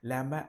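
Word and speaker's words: llama: लैम्बा and alpaca, see this is, हाँ, pronunciation को ध्यान दीजिए। लैमा and alpaca found in south America.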